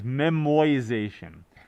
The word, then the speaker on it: memoization: is a new term it is not memorization i did not uh mispronounce that i did not misspell it it is memoization uh i forget why